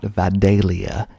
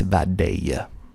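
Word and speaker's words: Vidalia: most famous for V it's not velia it's vadia next we got America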